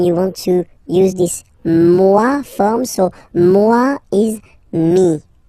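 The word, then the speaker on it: moi: so it's me so remember this o e combination give you the sound MUA okay and then you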